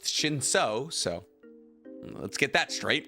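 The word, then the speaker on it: Shinsu: Well, one, it's pronounced Shinso, so let's get that straight.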